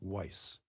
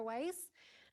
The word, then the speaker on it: Weiss: so far and it's from Sarah Weiss it could be Sarah whis and forgive me if I mispronounced it I got a ride the first time thank you very much